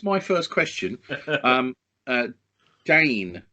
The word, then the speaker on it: Dehn: Um, uh, Dane, not Den. Right. Okay. I' I'd always pronounced it den. Okay. It's Dane.